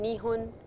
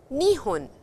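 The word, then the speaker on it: 二分: So after me you could repeat ippun, nihun, nihun, and fa over here is actually how you blow air out. If you cannot say that, you can always say hun, it doesn't matter.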